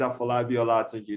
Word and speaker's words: Afolabi Olatunji: Well, yeah, we call it Afolabi OLATUNJI. That's the way it's been properly, rightly pronounced.